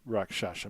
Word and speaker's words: rakshasa: i spell rakshasa more importantly how do you pronounce rakshasa mr mercer if you would please rakshasa oh